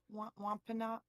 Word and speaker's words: Wampanoag: How did you pronounce that, Jericho? Wampanoag. Wampanoag.